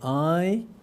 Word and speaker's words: Ai: 2000; by the way Ai, the pronunciation is /aɪ/ and the meaning is 'love' in Japanese a very popular girl